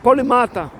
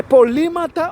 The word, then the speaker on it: polímata: termo né polímata ou polimata já vi já ouvi pessoas pronunciando de maneira diferentes tá eh polímata ou polimata tá tanto faz tá eh mas são pessoas